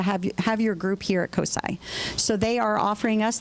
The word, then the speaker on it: COSI: It's COSI.